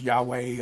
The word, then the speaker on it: Yahweh: Some people think it's pronounced Yahweh, others think it's pronounced Jehovah. I say Jehovah, and I have good reason to.